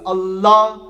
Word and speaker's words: Allah: So it's not with the tip of your tongue, you twist it and say more behind your teeth and you say la. So you say Allah, and then you don't say the whole thing at the end where you say Allah. So it's just open, it's Allah, Pakang, Pak.